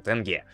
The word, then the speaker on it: тенге: мы неправильно произносим ты тенге вроде до ударение на первый слог это запомнил тенге вот то есть да